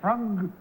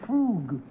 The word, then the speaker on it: frug: number one is it is it frog or is it frug well it's carefully pronounced either way oh I see all